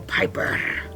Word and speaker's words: Piper: So I did talk to Piper and she said, why don't you roll your R's? And I was like, okay, I'll give it a try. So Piper, and that's pretty cool.